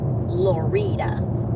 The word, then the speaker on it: Lorida: So, Lorita is a town that we're going to be going through. It's spelled like the word Florida without the F.